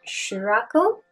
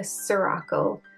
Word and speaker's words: Ceuracle: talking about a few new products from Dr shakle so I asked them how to pronounce it and they said shle so I'm trying my best of this one I think I used to call them Dr sakal um but I was like I'm super unsure